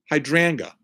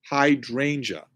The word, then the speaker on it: hydrangea: the E is silent hydrangea how could which e and how could hydranga hydrangea hydrangea oh so I don't say IA okay hydrangea hydrangea okay fine